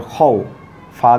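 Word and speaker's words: خوف: খ ওয়াও জবর খৌ, ফা দুই জের ফিন, খৌ ফিন। আমরা যদি ওয়াকফ না করি তাহলে এরকম উচ্চারণ হবে খৌফিন, কিন্তু আমরা যদি ওয়াকফ করি তাহলে এরকম হবে খৌফ খৌফ।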